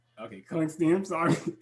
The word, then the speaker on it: Klickstein: Klickstein. Okay, Klickstein, I'm sorry. It's okay. A lot of people mispronounce it.